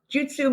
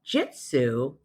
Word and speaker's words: Jutsu: Urban ha goju now Jutsu means method the common mispronunciation of Jitsu actually means truth okay so I'm not